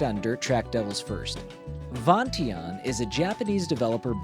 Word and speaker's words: Vingt-et-un: I find that interesting because apparently Vingt-et-un (Vont-ee-onn) means 21 in French, and is the French name for "Blackjack". Without Google Translate and the the ability to hear how words are pronounced I'd still be over here saying Vingt-et-un like a heathen.